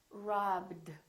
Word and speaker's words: robbed: is not a t this one is robbed robbed so this one becomes a d so we have three